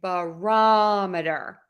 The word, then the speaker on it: barometer: for our last example we are going to stress the ROM in barometer so we have thermometer